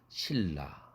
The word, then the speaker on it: 신라: 이렇게 발음 하지 않습니까 신 라 실라 이렇게 발음 해요 이 전부다 울림도 원칙에